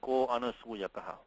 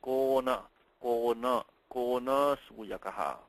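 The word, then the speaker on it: कोऽनसूयकः: Also, when I mentioned to you, this avagraha has no pronunciation value. Tasya matra nasti. Avakasha nasti ucharana samaya. So don't say ko anasuyakaha. Say ko na suyakaha. So say jyutiman ko na suyakaha. So that will be, so remove that avagraha from the pronunciation.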